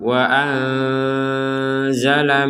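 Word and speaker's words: وَأَنزَلَ: Bina wa anzal di sini nun sukun bertemu zai kita baca samar. Wa anzala minasama.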